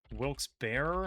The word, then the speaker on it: Wilkes-Barre: Wilkes-Barre, I think is how it's pronounced. I think it's Bear or Barry, but not Bar.